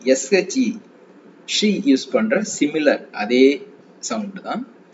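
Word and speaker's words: 些: ஸோ இந்த எக்ஸ் வரும்போது இது நம்ம ஷி, எஸ்ஹெச்இ, ஷி யூஸ் பண்ற சிமிலர் அதே சவுண்ட் தான்.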